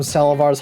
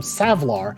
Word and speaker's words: Savlar: to get away from salivar's highly toxic environment I really like how the Set uh I've been saying their name wrong this entire time savlar chem dogs really look because they